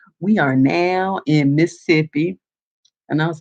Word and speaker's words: Mississippi: So yes, it was more like he was saying miss and then ippy. So it was like Mississippi. It was missing a little syllable there.